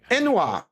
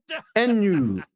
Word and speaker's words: ennui: Ennui, how it's pronounced. Ennui, ennui, ennui.